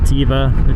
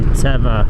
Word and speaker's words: Teva: I always pronounced it Tiva. It just sounds better. and it's actually Teva.